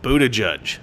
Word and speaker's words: Buttigieg: before I accept that this name is pronounced Buddha judge Buddha jig booted gig buddha gage but gage but gage we should